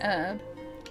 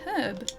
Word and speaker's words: herb: Yeah, in the States it's um it's herb and in Australia it's herb. We pronounce the H.